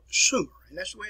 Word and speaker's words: Sumer: 3200 bce in a place which is called sumer and that's the way it's pronounced here the earliest form of writing was